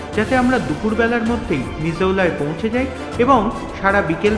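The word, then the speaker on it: Missoula: যদিও আমি মিসোলা বা মিজোলা উচ্চারণ করছি। কিন্তু স্থানীয়দের কাছে এই উচ্চারণটা হচ্ছে মিজোলা।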